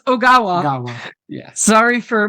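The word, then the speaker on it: Ogawa: them were returning characters nurse agawa who I kept saying agawa but it is oawa yeah sorry for mispronouncing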